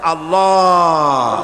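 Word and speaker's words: الله: পাকের নামের উচ্চারণ হচ্ছে আল্লাহ মুখটা একটু গোল হয়ে যাবে বলেন আল্লাহ আল্লাহ সুবহানাল্লাহ পৃথিবীতে বিভিন্ন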